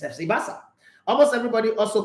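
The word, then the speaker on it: Barça: Remember, almost everybody call it FC Baka. It's FC Basa.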